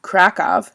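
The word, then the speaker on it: Kraków: krakow pronounced krakov in polish has a population of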